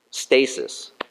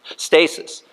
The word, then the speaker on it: stasis: sudden appearance and um stasis two syllables like something stasis stasis means if you